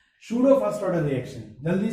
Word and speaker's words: pseudo: तो तो देखो सूडो फर्स्ट ऑर्डर में क्या करेंगे ठीक है, सूडो फर्स्ट ऑर्डर रिएक्शन अब ये सूडो फर्स्ट ऑर्डर रिएक्शन, इसमें पी साइलेंट होता है ना।